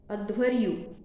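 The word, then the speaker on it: अध्वर्यु: होता त्यानंतर यजुर्वेदाचा अध्वरयुद्ध अध्वरयु अर्धा ध त्याला व आणि य वरती रफात अध्वरयु त्याच्यानंतर सामवेदाचा आहे उद्गता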